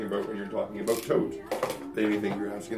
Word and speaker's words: Thoth: to find out that the way to pronounce that is tote, like a tote bag. I've been calling him Thoth all my life. He's actually tote.